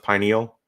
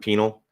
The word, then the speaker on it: pineal: there there's and it's it's pronounced pineal not penal um sorry well you